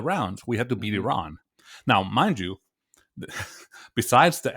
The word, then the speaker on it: Iran: and here you are mispronouncing our country's name from if not Iran it's Iran and he goes well